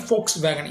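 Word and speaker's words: Volkswagen: அடுத்த கம்பெனி ஃபோக்ஸ் வேகன். இதையும் நம்ம தப்பாக தாங்க ப்ரொனவுன்ஸ் பண்ணிட்டு வரோம்.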